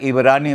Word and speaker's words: इब्रानी: तो हेब्रू भाषा को अंग्रेजी में कहा जाता है हेब्रू भाषा। लेकिन हिंदी में उसको कहा जाता है इब्रानी भाषा क्योंकि एच का उच्चारण नहीं होता तो हैब की बजाय इब्रान तो इस कारण से बहुत